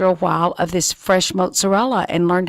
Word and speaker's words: mozzarella: were talking about this earlier I would say mozzarella but you say it mozzarella and that's correct that's the way we say